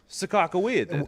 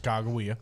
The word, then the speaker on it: Sacagawea: Sakakawea. Which is also a pronunciation of Sacagawea. Yes. By the way. I mean, but we have clarified that it is pronounced Chicagoia.